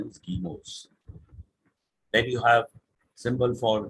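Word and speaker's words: guillemets: quotation marks are actually called they're written as gillimits but the correct range pronunciation is chemos then you have symbol for infinity uh for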